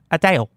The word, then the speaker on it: Adele: And before you think I said her name wrong, that is how Adele pronounces Adele.